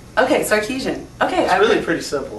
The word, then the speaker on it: Sarkisian: with it I wear you out but a Sarkisian okay Sarkisian okay I really pretty simple yeah it really